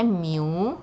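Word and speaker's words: μ: micro ini sepersejuta jadi Miu ini Ini bacanya Miu ya Eh disebut juga micro Oke m Hai sepeser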